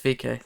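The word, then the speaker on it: VeeKay: It's VK.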